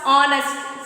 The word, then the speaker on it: honest: Here also H is silent. Understand? H is silent. Then you should pronounce honest.